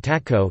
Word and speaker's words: татко: Disyllabic words are stressed on the second to last syllable, for example, dt dt child, mica mica mother, and takko takke father.